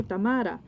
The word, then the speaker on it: Tamara: And I'm like, okay, Tamara. And then they're like, oh, I can't roll my R's.